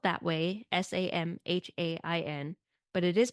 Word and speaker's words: Samhain: It's spelt that way, Samhain, but it is pronounced Samhain.